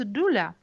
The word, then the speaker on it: doula: servante de la femme il se prouve prononce doula en choisissant un accompagnement